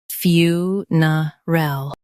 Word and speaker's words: funeral: Stress fyoo and keep ner soft. Ul is quick.